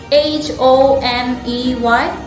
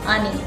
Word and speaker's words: honey: h and not h also to remember the pronunciation of these words honest our honor but h-o-n-e-y is honey and not ani don't confuse and this word before giving you